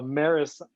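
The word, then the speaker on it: Meross: i still have ameris i just learned how to pronounce that brand name it's m-e-r-o-s-s a maris plug and i still have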